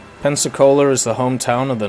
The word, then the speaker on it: Pensacola: do you say the heavy cruiser for America Penta coaster whatever it's called pensacola pensacola that's the one the pepsi cola camp